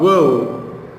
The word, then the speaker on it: woe: Story of वो, WOE। ये word हमने जब पोएम में पढ़ा था तो ये वर्ड रह गया होगा, दैट इज वो। इसको प्रोनाउंस करते हैं वो, और इसकी मीनिंग है